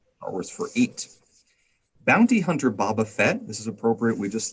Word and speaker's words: Boba Fett: the hutt devin uh first of all it's boba fett second of all uh carbonite you just finished binging all of star wars and you said baba fett how do you pronounce